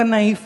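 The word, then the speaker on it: knife: वो बोले बोले क नाइफ देना नाइफ नहीं क्योंकि के साइलेंट है भाई क्यों साइलेंट अगर साइलेंट ही रखने तो लिखते क्यों हो?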